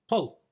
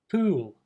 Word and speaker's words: pull: dream wedding let's look it's a common pronunciation mistake in the word poll many Japanese people would say the word pool or something very similar using the GU sound instead of the O sound there's a similar problem